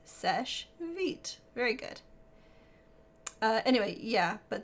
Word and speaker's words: Seche Vite: feed it's just yeah it's Seche vite it's not sachet vitae it's French it just means quick dry and it's Seche vite very good anyway yeah